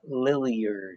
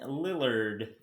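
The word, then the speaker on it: Damian Lillard: the nba playoffs uh i will say damon lillier lillard i would never ever pronounce his name because he wrote a million points and it was cut back damien lillard from the trail blazers i want to put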